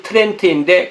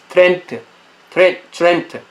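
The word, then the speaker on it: Trent: 트렌트. 네. 트렌트. 이 영어에서 T하고 R이 붙으면 그 T라고 발음 안 하고 치 이런 발음이 나오죠. 크리스마스 추리.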